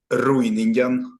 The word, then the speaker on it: Ryningen: And your last name, how do you pronounce it? Ryningen.